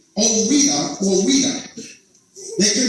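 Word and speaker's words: Ouidah: It's pronounced Oweda. The French pronounced it Ouida. Right? That's how they pronounced it.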